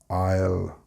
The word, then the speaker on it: aisle: You may not believe me, but the word is I'll, and it is definitely not pronounced the way it is written. It's not Islay or Easley, it's aisle, the aisle of a